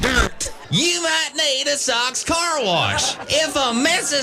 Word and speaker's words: Sauk: It's pronounced Sauk.